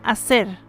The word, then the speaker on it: hacer: Now let's combine the consonant H with the vowels, and you will notice that the H is totally silent. Therefore, you will only hear the sound of the vowels.